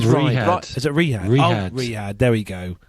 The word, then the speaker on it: Riyadh: I think how it's do Ryder. I pronounce? I think it's Riyadh. Ryder. Is it Riyadh? Riyadh.